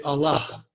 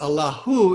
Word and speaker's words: Allah: The convention is when you're pronouncing a name, not to pronounce the last syllable, or I guess it's the last syllable. So you would say Allah, and Allahu is the technical way of saying it, and you would